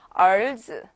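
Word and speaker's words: 儿子: 儿子, 네, ER이라고 이제 되어 있을 때는 네, 우리가 이렇게 ER 같은 경우에는 혹은 R 발음이 나게 되어 있어요. 근데 사실은 얼과 R의 중간 발음이 나는 건데 이제 여러분들은 너무 그런 거에 처음부터 부에 맞지 마시고 편하게 얼즈, 네, 이렇게 읽어주시면 되시겠습니다.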